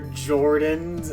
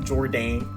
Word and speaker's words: Jordan: You're the only person on earth bidding on 70year-old quick and air Jordans. Uh B. It's pronounced Jordan, not Jordane. Not Jodane.